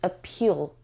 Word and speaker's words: appeal: and that word is appeal appeal appeal it has two syllables and the stresses on the second level appeal and this sound is schwa sound schwa sound we have